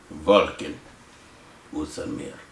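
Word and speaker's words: Volkan Oezdemir: Volkan Ustamir. That's how you say it. I probably spelled his name wrong.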